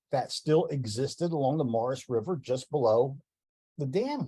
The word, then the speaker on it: Maurice: The Morris River is spelled like the man's name, Maurice, but it's actually pronounced Morris by the locals.